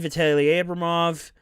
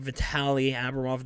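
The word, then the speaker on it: Vitali Abramov: you know alex formington vitale abramov i totally butchered his name vitali abramoff there we go philip tropic of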